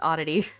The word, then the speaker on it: Oddity: If you need help pronouncing my YouTube name, it's just Oddity. Oddity is totally fine.